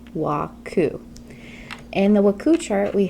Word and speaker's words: WKU: a waku chart has W KU and it's pronounced waku in the waku chart we have w w